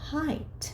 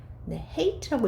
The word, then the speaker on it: height: height. 자, 요 단어는요. hate라고 읽으시면 안 되고요.